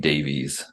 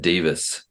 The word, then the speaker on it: Davies: Because I was watching a YouTuber from England and she corrected herself for saying Davies and was like, oh, I said Davies, I meant Davis.